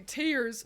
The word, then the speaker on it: Tears: of isn't it bloody tears from Castlevania I think it's tear like it's tearing through uh but those two things are spelled the same so you know I